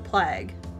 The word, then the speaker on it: plague: With a long A. Not a short A.